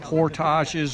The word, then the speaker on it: portage: with slack water there's portages or portages as most people know it pronounced he spoke french the french pronunciation is portage but there's all aspects